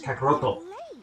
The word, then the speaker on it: Kakarot: to do it but the way the Japanese pronounce it is kakaroto and so Vegito you